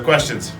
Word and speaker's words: question: It's not question, it's quest, okay? S, and this is a ch. Question. And we don't do the W, we just jump.